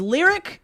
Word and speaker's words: Lyric: He says, "Hey guys, my name is Lyric, pronounced like the actual word in the English language, and my friend-iversary with